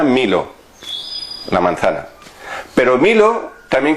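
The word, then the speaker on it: μήλο: Se pronuncia milo, la manzana.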